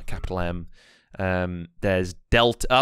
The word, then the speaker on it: mu: here as well so so mu is pronounced like the m in music yeah and omega is